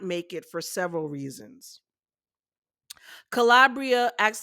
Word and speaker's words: Calabria: Isn't Calabria a place in Italy? But hers is pronounced Calabria.